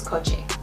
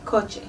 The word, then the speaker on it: coche: But the word for car is coche.